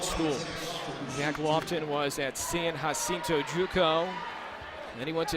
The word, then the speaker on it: San Jacinto: know how to print we know how to pronounce our J's in espanol but yeah he's a